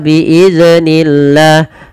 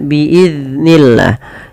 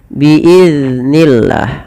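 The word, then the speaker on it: بِإِذْنِ اللَّهِ: Kesalahan yang sering terjadi di dalam membaca huruf dalantulkan huruf dal tersebut. Ini yang salah. Contoh biidnillah. Biidnillah itu memantul zalnya. Nah, harusnya tidak boleh ya dipantulkan. Bagaimana cara membacanya? Biidnillah. Biidnillah. Ah, seperti itu.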